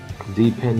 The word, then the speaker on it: depend: stress syllable symbols so now you know deep end is the answer because it has the stress on the second syllable and the other ones have it on the first syllable all right let's look